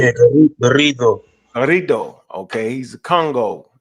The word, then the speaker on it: Garrido: Garrido. Am I saying it right? Garrido. All right. Yeah, Garrido.